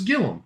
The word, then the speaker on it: Gilliam: I I heard on a couple of opens of match game 73 earlier today, his name pronounces Gillum, even though it's spelled G I L L I A M like Arman Gilliam.